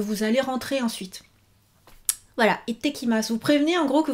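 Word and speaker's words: いってきます: » Vous dites « Itekimasu, itekimasu. » Donc, prononciation, prononciation. Vous retenez, il y a le petit sou pour dire itte. C'est pas ite, mais itekimasu.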